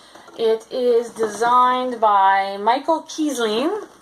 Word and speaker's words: Kiesling: It is designed by Michael Kiesling. Rhymes with Riesling, my favorite wine.